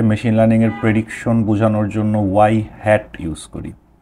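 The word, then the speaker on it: ŷ: আর normally আমরা হচ্ছে mathematically হচ্ছে মেশিন লার্নিংয়ের প্রেডিকশন বোঝানোর জন্য ওয়াই হ্যাট ইউজ করি। সো এটাকে আমরা প্রোনাউন্স করি হচ্ছে ওয়াই হ্যাট।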